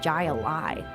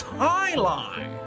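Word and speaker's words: jai alai: against the bellows bloodhounds what the heck is jai alive it's pronounced high lie what the heck is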